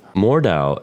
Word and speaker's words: Mordhau: sweet sweet tantalizing relief more Dao is a beautiful game so far I believe that's how you pronounce it we decided to jump